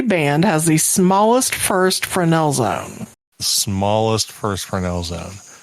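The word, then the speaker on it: Fresnel: has the smallest first Fresno Zone it's frenel there's no you don't pronounce that sorry sorry sorry sorry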